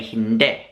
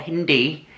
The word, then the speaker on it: hindi: say no you say Hind and this is sped kind of the same as the language India Hindi but you pronounce it as hind not Hindi Hind to say thank